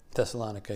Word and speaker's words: Thessalonica: beautifully and firmly planted in salonica am I pronouncing it right thessalonica yeah thessalonica um but tell us about Detroit